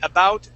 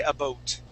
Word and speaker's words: about: word about okay uh we say about they say a boot a bow a boat okay that's going to